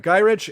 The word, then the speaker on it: Gyrich: angrily searches for gyri gyrich G pronounced that's right gyrich and tras after gaining